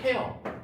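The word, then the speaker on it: tear: 학생 요거 이제 동사로 쓰일 때는 티어라고 발음하지 마시고 눈물일 땐 티어지만 동사일 땐 태어 태어 토어 톤 해서 이게 어떤 뜻이냐면은 동사로 쓰일 때는 찢다이 뜻이야.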